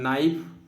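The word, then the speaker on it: knife: हैं, जैसे art, follow, कनाइफ मतलब नाइफ, जिसमें के साइलेंट होता है, नाइफ बोलते हैं।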